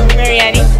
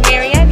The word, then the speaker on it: Marianne: Alright, I'm here with Sonia, Marietti, Alicia. Huh? There you go. You know my name. How you say it? Sonia. Marietti? Marianne. Marianne? Yes, Marianne. Why are you yelling at me?